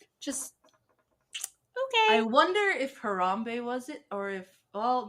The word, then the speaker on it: Harambe: that our reality's anchor creatures was the ape hamurabi is that how you say it is that